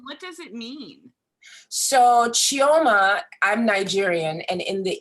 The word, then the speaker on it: Chioma: everyone thank you and welcome geoma am i saying that correctly it's such a beautiful name and i would hate to not say it correctly you're saying it perfectly perfectly thank you how do